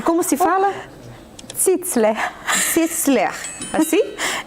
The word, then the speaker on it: Zizler: Zitzler.